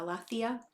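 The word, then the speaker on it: aletheia: testament uses of the word truth and i'll spell it for you a l e t h e i a alathia are in john's gospel satan works very hard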